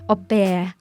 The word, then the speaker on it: au pair: คำว่า ออแพร์ เป็นคำที่ยืมจากภาษาฝรั่งเศส ออกเสียงว่า โอ-แปร์ โอ-แปร์ นะคะ แปลตรงตัวก็คือ เท่าเทียมกัน นั่นเองนะคะ ซึ่งจะหมายความว่า